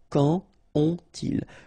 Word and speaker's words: quand ont-ils: Exactly the same thing here. Quand, when, and then ont-ils, here you've got this little thing, quand ont-ils, quand ont-ils, alright, so you don't make a liaison here between the two, okay, it was the second rule.